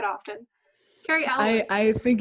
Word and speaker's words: Cary Elwes: Cary Elwes, yeah. Elwes. This is like such an unnatural sounding name. It's not a bad name. It's just not one I've said often. Cary Elwes.